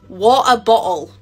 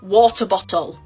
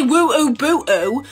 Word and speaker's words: water bottle: and i'm offended because i do not say it like this i will say until i die that i do not pronounce this like this this literally says and i don't pronounce it like that i say water bottle or water bottle water bottle i don't say woo boo so whoever made this